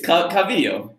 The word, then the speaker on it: Calvillo: I have never heard you pronounce it that way in my entire life. Calviller. It's Calvillo.